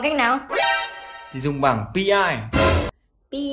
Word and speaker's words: PI: Thì dùng bảng PI. PI á? Là tiếng Tây hay tiếng Tàu đấy? Là tiếng Anh. PI tức là cách đọc tiếng Anh của chữ P và chữ I này này.